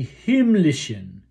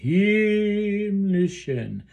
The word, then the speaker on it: Himmlischen: And that last syllable of Himmlischen should also be kind of a schwa, a dull sound, not a eh.